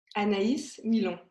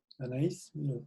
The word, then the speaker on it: Anaïs Millon: So maybe you can say it properly. I always like guests to say their name the way you say it, so everyone can hear. Anaïs Millon. Anaïs Millon.